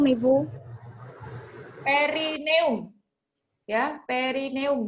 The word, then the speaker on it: perineum: Rerineum, Ibu. Perineum. Ya, perineum bacanya.